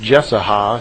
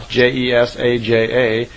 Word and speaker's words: Jesaja: spoke through the prophet, I believe it's pronounced Jesaja, Jesaja. Those of you who are into the history of this may know better than I.